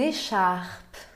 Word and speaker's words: écharpe: Une écharpe. Une écharpe. Penúltima sílaba, porque tem um E mudo depois de uma consoante na última sílaba.